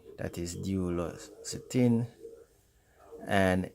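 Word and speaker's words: duloxetine: o x e t i n that is d los cetin and m i l n a c i p r a n that is pronounced milnacipran your doctor may also suggest pain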